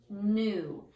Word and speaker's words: knew: She knew how to put together the project, new. And the tricky part in that one is this K right here. It is a silent K, and that's what makes that a tricky sight word, new.